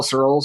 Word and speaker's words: Searls: one that you spell cirils or pronounce it uh like the word pearls uh but with an S instead of a p so it's s-e-a-r-l-s all